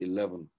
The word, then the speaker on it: ELVN: It's pronounced 11.